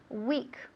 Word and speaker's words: weak: Weak, weak, weak. Se escribe W-E-A-K. Weak se pronuncia igual, absolutamente igual a la palabra semana en inglés.